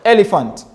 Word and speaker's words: elephant: Example is very simple in words like elephant, elephant, elephant. Now let's pronounce it together. Elephant. So you have elephant. Is very high, and then you have elephant going low.